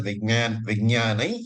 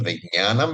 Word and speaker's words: विज्ञानं: Tuji pronounced as Vijnai, this is because Anuswara is followed by a Y. And therefore you can pronounce it as Vijnanai Yajnam Tanute, or you can pronounce as Vijnanam Yajnam Tanute. But traditionally, Vijnanai is used.